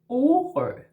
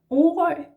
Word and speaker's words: Orø: Yeah, so just like before, you go, instead of A, you go O, and this letter is very round, just like the letter itself. And in Danish, the O in Danish is not O, it's O, yeah? Just like if you're singing O, O, O, like that, yeah?